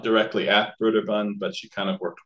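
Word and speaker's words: Brøderbund: software or Brer Bund I always want to say Brun because it has this o with the through it and the Danish pronunciation you would say Brun but probably broer Bund is more appropriate um so anyway um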